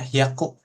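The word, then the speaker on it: 百: Iya. Bacanya hyaku.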